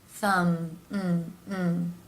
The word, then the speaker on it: thumb: Rule of And finally, the M consonant sound, where the lips come together. Thumb, And the B here is silent.